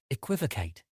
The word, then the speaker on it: equivocate: time today's word is equivocate it is spelled t q u i v o c a t e think act like the beginning of equal IV and then Kate with a c before we get into